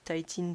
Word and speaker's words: Titin: c'est la titine donc ça s'écrit titine mais ça se dit titine c'est parce qu'en anglais taille ça veut dire attaché donc ça s'appelle la